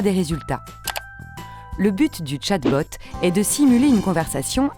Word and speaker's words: chatbot: chatbot un quoi un chatbot qu'est-ce que c'est déjà ça se prononce chatbot c'est la contraction de